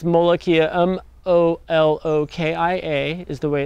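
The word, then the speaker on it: molokhia: This plant here is called molokia. Some people call it molokia. In Arabic, that's how it's pronounced.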